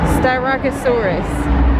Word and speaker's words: Styracosaurus: it was but he said it clearly and phonetically styracosaurus that's how you pronounce it i didn't know